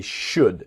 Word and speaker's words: should: So they should. Remember the L in should is silent.